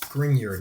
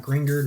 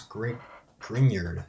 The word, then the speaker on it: Grignard: By the way, it is pronounced Grignard, not Grignard, not Grignard, whatever you think. It's Grignard.